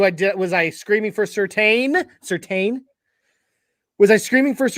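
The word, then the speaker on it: Surtain: go down to the secondary patrick's and it's pronounced certain not so tan certain and said it's actually pronounced certain so patrick certain was literally drafted just you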